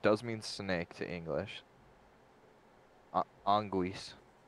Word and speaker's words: anguis: Anguis is how you say it.